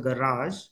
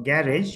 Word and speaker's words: garage: it so like in the word garage or garage you know both the pronunciations are fine what is the rule